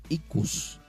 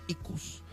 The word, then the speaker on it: Ikus: Para los mayomberos, este Iku también es representado, pero para ellos significa, o mejor dicho, ellos lo pronuncian como Ikus, acento en la O con ese, Ikus. y nosotros como santero Iku.